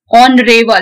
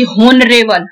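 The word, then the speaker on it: honourable: आव, hair, ऑनरेबल ना कि होनरेबल, हम लोग चलो बोलचाल भाषा में तो बोल देते हैं ना कि होनरेबल पर्सन, होनेस्ट मैन, लेकिन ये सब गलत है। ऑनरेबल person, honest man, ऑनररी post, ये सब होता है क्योंकि यहाँ पे हर जगह आपका एच साइलेंट रहेगा और एच जो साइलेंट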